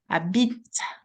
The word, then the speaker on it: habite: What we can hear is the T. It's not the E that is at the very end, because that's what this final E makes. It makes the letter, the consonant just before pronounce. And this is what is happening with the T.